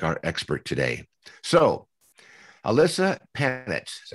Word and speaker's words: Ilyssa Panitz: who can just like our expert today so alyssa panitch correctly pronounced is a divorce journalist and columnist she